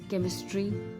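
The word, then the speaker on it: chemistry: much सच lunch bunch सीच की वो sound जो क की साउंड प्रोड्यूस करती है character केमिस्ट्री chemical कीमोथेरेपी coarse and choreography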